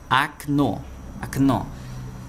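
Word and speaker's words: окно: Nessa outra palavra aqui, Knô, a gente consegue perceber também que aqui virou um som de a e aqui permanece um som de o. Exatamente porque a sílaba tônica, a sílaba mais forte, está aqui no no e aqui fica fraco, então fica com som de a.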